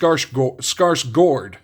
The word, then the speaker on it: Skarsgård: days, we have Stellan, as I found out how it's actually pronounced, Skarsgård, not guard, but Gord, on the Marvel Allure.